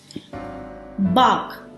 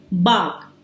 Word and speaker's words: bark: 8, बाक, BARK, बाक। यहां पर भी आर साइलेंट है।